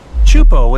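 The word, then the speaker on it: Teahupoʻo: Chupo in Tahiti also has some of the heaviest waves in the world, breaking over a shallow reef and creating intense barrel rides.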